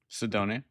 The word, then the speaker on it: Cydonia: And now I'm going to go listen Knights of Cydonia, as you pronounce it? Cydonia.